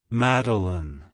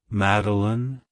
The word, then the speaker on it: Madilyn: personality it's pronounced as meline meline meline to pronounce it correctly emphasize the first syllable mad and then pronounce the